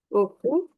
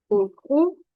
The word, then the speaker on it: heureux: Happy is heureux, heureux. We don't need to read H and X.